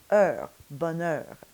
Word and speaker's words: bonheur: Now there's that sound again, which is always a little bit challenging to say, especially in isolation, because it only appears in a closed syllable. And by closed syllable, we mean a syllable that is closed off at the end with a consonant sound, like oeuf, or neuf, or in this case, heur.